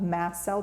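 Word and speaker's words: mast cell: a fair amount of mass cell tumors it's spelled m s Mass like a ship um massel tumors are one of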